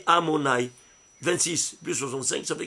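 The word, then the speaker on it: Adonai: Il s'écrit Yudkevavke, mais il se lit Amonai.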